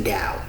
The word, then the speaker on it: Tao: But I'm not gonna mention what book it is, but it's spelled TOA, but it's the Tao, right?